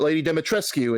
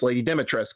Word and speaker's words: Dimitrescu: Resident Evil Village by Lady Dimitrescu, but by the way, the U is silent apparently. It's not Lady Dimitrescu, it's Lady Dimitrescu, according to them.